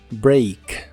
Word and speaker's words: break: break que significa romper la a se pronuncia como una I break break el auxiliar wouldn't